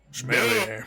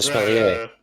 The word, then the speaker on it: sommelier: Smelly air. Oh, It's a sommelier. sommelier.